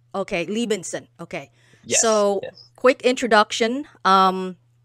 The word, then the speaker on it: Liebensohn: is your last name it's pronounced Levinson the H is silence okay Lee Benson okay so quick introduction